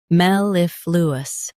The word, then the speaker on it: mellifluous: Both US and UK have the same pronunciation of this word, mellifluous. Now read the syllables shown on the screen naturally. Mel, if, lu, us, mellifluous. Emphasize if and keep lu smooth.